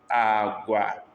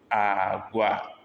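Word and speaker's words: agwa: We have agua. This is low, low, agua, beans, agua, beans.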